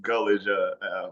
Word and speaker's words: Gullage: Oh, it's pronounced Gullage, old camp story for a second.